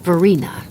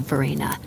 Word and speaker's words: Verena: Mike Stanton Vina SOC the middle e mispronounced like teen like Vina instead of Verina and looks between the